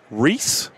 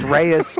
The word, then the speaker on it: Reis: chevy business elite sales our next guest chris reese right so i know people probably butcher your name oh they butchered chris reyes chris you name it i nailed it you